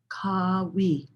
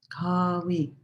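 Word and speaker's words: Qawi: And the word is Kawi. Kawi. It's spelled or transliterated Q-A-W-I, but you could think of it almost like, K-A-W-E-E, Kawi.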